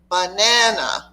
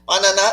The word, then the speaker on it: banana: Banana, word stress. There's one and only one most important syllable in any word. And if you hit that, banana is not a word to an English speaker.